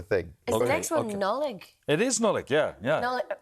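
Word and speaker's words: Nodlaig: But he said, Nullig says that most people pronounce the D because he spells it N-O-D-L-A-I-G. Nodleg or Nodlag.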